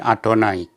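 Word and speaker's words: אֲדֹנָי: Bacanya Anohi Adonai.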